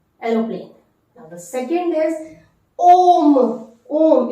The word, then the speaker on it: homme: Now the second is Om. Om. It is beginning with the H muet silent H. It is an example of the silent H. Om.